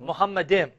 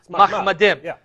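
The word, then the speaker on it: מחמדים: Now notice how he pronounced it, Muhammadim. Yeah. More accurately would be Mahmadim, which comes from Mahmad.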